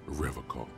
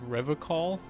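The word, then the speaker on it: Revachol: for Revol he pronounces Revol with a hard K unlike other people said Revol I like to pronounce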